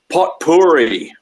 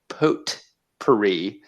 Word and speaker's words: potpourri: you pronounce this word potpourri potpourri potpourri i know where i'm from okay i think what i have been doing is i have been pronouncing a t i have been saying potpourri but if you say